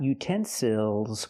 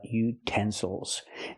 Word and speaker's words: utensils: and these are utensils not utensils but utensils now we have a word with three syllables we stress the second syllable utensils again the third syllable is not stressed so we cannot say ill we have to say o utensil one utensil and two